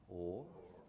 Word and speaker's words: whore: The word for prostitute, whore, was also pronounced or. Hour, or, whore, or.